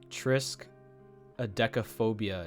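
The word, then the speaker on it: triskaidekaphobia: i myself just just gotta establish this um trisk adekaphobia is how you say it and it is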